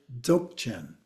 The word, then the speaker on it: Dzogchen: So sometimes it's actually pronounced as Dzogchen. Okay, either way. Another factor is that D. The D generally is not considered a part of the pronunciation, but in English, we often just pronounce it as if it starts with the Z, the Dzogchen, but it